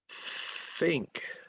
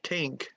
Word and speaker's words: think: Think. Think. Okay, don't say tink. It has to be think.